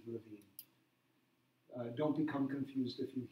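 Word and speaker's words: Lewin: going to hear pronounseling I use the pronunciation he used which is the German pronunciation which is Levine don't become confused if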